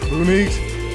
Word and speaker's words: Beaunique: Is that it? Beaunique? That's right. I said it right.